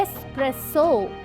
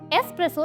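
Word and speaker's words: espresso: सबसे पहला है एक्सप्रेसो। तो दोस्तों अगर आप इसे एक्सप्रेसो बोलते हो दैट्स इनकरेक्ट बिकॉज़ इसकी सही प्रोनाउंसिएशन है एक्सप्रेसो। एस्रेसो एक ऐसी कॉफी होती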